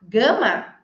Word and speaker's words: gum: a revólver uma arma então a goma de mascar não é Gama a goma de mascar é Gam e a arma é Gun Gam gan e isso